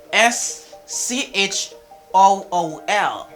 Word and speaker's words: school: ch sounds like k for example in words like s c h o o l when you say school school school a car